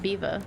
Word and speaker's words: Belvoir: over here I'm it's most people call it beaver but I guess it it probably depends what part of the um what part of the town you live in whether you'd call It Beaver or not like if you're trying